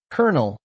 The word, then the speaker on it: colonel: Colonel and colonel sound alike. Colonel is a seed or core. Colonel is a military rank. This homophone pair confuses many. The silent L makes it tricky.